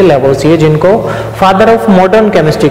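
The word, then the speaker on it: Lavoisier: Are silent है इसमें, इनको प्रोनाउंस करेंगे लैवोसिए.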